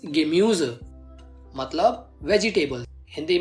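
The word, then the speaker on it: Gemüse: यू के ऊपर उमलाउट है, इसलिए इसकी प्रोनाउंसिएशन बनेगी दस गेम्यूज, मतलब वेजिटेबल।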